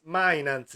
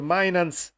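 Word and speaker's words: Mijnans: c'è Wiffer e c'è Mainans si legge, perché io vivendo in Olanda so benissimo che il dittongo, che mi sembra si chiami così in italiano, IJ, si legge EI, così come il tedesco quando hanno queste vocali vicine.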